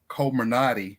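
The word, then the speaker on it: Comirnaty: start to sell them on the brand name culminati if I'm pronouncing it right c-o-m-i-r-n-a-t-y for a hundred and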